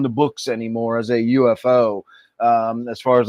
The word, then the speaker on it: UFO: And the guy who coined the phrase UFO actually wanted it be to be pronounced UFO, but nobody agreed with him and just said UFO.